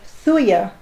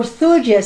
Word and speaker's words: thuja: is a homeopathic remedy fuya or thuja some people pronounce it that can cover all